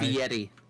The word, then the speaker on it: Fieri: Fieri. Guy Ferrari. Remember, it's guy. Fieri.